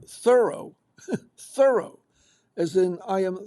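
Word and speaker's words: Thoreau: It turns out that the accent does not belong on the second syllable, as in Merllo or Puo. It rests Whoops. It rests on the first syllable like thorough as in like thorough.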